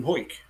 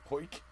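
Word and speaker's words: Hawick: them was 20 miles down the road in whoit whoit which is spelt H 8 H a WIC k w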